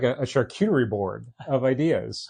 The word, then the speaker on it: charcuterie: Oh my God, just like a charcuterie board of ideas. How do you say that? Charcuterie. You gotta put the shark into it, right?